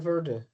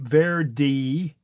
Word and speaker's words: Verde: But then we have the spa uh Portuguese who had taken over the land and basically or you know settled the land pronouncing it ver and then we have English speakers hearing that and then pronouncing it without the e is what I think happened.